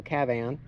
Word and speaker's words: Kavan: I was told that or KAVAN, because the A is supposed to be pronounced like cat, so KAVAN.